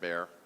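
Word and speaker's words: Bexar: Weston Martinez ran for the primary in San Antonio, Texas, and uh in Bear County. It's it's spelled B X A R, but it's pronounced Bear.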